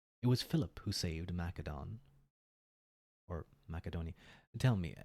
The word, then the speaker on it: Macedon: Macedon. Mm, not Mac.